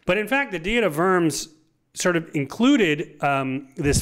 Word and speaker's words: Worms: it says diet of worms but it's it's German so it's pronounced diet of verms Diaz is kind of